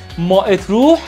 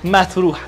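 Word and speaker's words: ما تروح: میری اتروح نمیری متروح دقت کن اینو مات روح تلفظ نکن تلفظ دقیقش متروح هستش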